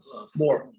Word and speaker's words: Mor: How does Rabbi Nahum pronounce Mor? Mor or Mar? More.